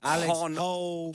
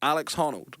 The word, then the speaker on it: Honnold: Because you're like Alex Hollow. Hon Old. Honold. Honold. Alex Honold. How'd you spell it?